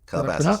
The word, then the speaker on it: Calabasas: Well, yeah, if you'd have put me in Calabasas, I said it right? Calabasas.